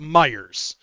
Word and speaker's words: Meijer: Even though it's spelled Meyer, we call it Myers. Because it pisses off Fred Meyer. It's funny. Even though he's dead, you know. we call it Myers anyways.